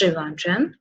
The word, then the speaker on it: Trivandrum: some might say pill and RM no it's Trivandrum okay alle pure it is pronounced is alleppey okay then what what could